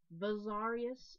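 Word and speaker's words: Vessalius: It's called Bizarius, but there's Vizarius as well, and Vizarius or something. There's several ways to pronounce this, but because I know it as Bizarius, I'm going to be saying Bizarius.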